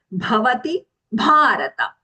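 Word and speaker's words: भवति भारत: The only thing that we have to take care of the two Mahapranas, bhavati bharata. Okay.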